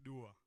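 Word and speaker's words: Duwa: My name is spelled D-U-W-A with a soft D. It's Dua, not Dua.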